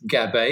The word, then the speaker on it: Gabay: My guest today is Gab, which rhymes with game, I've just been told.